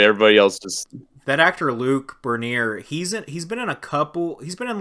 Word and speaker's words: Luc: The actor that played the brother, his name is it's Luc. So I think his name is like Luke, but it's spelled Luc.